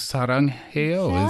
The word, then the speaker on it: 사랑해요: 사랑해요 is exactly how you say it in Korean.